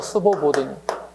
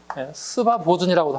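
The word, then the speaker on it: Свободный: 우아하고 도망갔다고 어디로 스보보드니 러시아말로 스보보드니 또는 발음상 약간 스바 보이라고 할 수도 있어요 상관없어요 이걸 우리말로 스 우리말로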